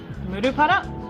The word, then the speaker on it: Murupara: Murupara, not murupara, murupara.